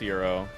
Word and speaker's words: gyro: Gyro. It's pronounced Euro.